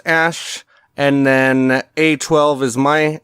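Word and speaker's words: Æ: letter X um and the AE is pronounced Ash and then a12 is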